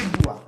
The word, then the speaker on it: boire: Boire, lembre-se. O OI sempre o som de UA. UA, ok? Então bateu o olho, deparou ali com a palavra. Com o OI, você já sabe, opa, OI no francês, som de UA do português, d'accord?